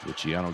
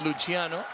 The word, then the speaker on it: Luciano: oh great very great Luciano Luciano not luano like in Italian it's in Spanish it's Luciano but everything's